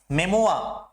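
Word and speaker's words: memoir: मेमोआ, इस वर्ड की हम प्रोनाउंसिएशन बहुत गलत कर देते हैं, ये क्या है? मेमोआ।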